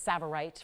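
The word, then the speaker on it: tsavorite: you money on saites because this tea is silent so you see it's savorite from Kenya it's a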